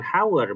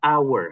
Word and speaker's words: hour: misalnya apa an hour nah bacanya bukan hour Bacanya adalah hour h-nya itu silent jadi depannya a makanya